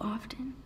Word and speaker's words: often: Is writing once a week too often? Will I run out of things to say? You pronounce the T in often?